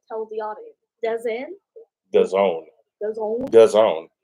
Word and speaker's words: DAZN: DAZN. Because it rhymes with calzone.